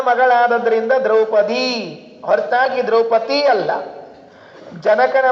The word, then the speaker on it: ಜಾನಕಿ: ಜನಕನ ಮಗಳು ಜಾನಕಿ ಹೊರತಾಗಿ ಜಾನಗಿ ಅಲ್ಲ.